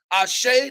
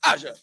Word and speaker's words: Aja: She came to impress, remember that, pronounce Ashe like Tasha, but not like Tasha. Please welcome to the stage the one and only Empress Aja.